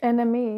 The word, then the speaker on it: NME: She put an NME. Is that how you say it? Enemy, yeah. Yeah.